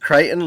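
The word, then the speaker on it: Crichton: pronounce uh your team it's kryon just Kiton like Triton with a c uh sure uh so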